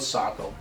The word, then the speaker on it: Saco: that they're not from here, because most people pronounce Saco as Saco if they're not from here, but it is called Saco.